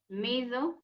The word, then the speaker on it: measure: Measure. Yeah, okay. Now, in these words, you must pronounce it as if it is SH, Hmm.